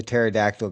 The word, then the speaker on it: pterodactyl: Why can't you hear the the the pterodactyl go to the bathroom? Why can't you hear the pterodactyl go to the bathroom? Cuz he's roaring. I don't know. No, cuz the P is silent.